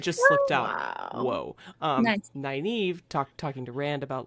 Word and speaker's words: Nynaeve: We've heard Nineveh. Oh my God, that was how I used to pronounce it in my head when I read the books in physical copy.